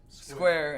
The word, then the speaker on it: Scuare: Square, and that's for y'all listening. It's spelled SCUARE.